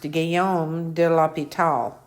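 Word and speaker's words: Guillaume de l'Hôpital: i'll get this down and then i'll it's pronounced gayom de la pital so he was a french mathematician and 1661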